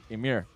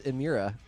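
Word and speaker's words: Emmure: Emir. Oh, you said it right this time. All right, yeah, brownie points. Josh usually says Emira.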